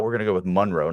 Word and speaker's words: Monroe: m o n r OE how would you pronounce that town Monroe okay Drew Monroe don't be scared Ian it's